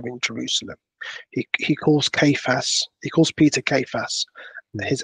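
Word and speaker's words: Cephas: first met Peter in Jerusalem he calls Peter Seas I think that's pronounced properly he sorry kayas in Arab in aramic say it again saas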